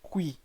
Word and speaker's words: cuy: kui, this is spelled as CUY, but then the pronunciation is Kui.